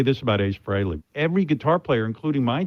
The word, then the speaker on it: Frehley: And Howard, thank you for pronouncing it properly. It's Frehley.